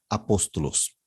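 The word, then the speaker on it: ἀπόστολος: esta o micro y Recuerden que esta comita es espíritu suave por eso no suena por eso la manera de leerlo es apóstolos la segunda es agapado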